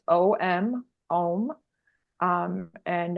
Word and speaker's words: Om: most simple exercises um is literally chanting one syllable and it's om om um and it's pronounced Au M like om like om but don't get too um too